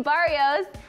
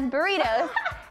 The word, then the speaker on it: Barrios: girl at the bank pronounce my last name Barrios as burritos and then I died